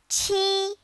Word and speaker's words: 七: 七. It sounds like the word cheese without the S.